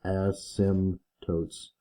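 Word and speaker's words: asymptotes: are called ASM tootes the p is silent say sim in the middle and totes at the back so Asim totes is how you say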